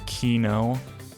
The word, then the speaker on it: Kino: beat here kino kino it's spelled like kaino right you but everyone says it keyno so hmm yeah i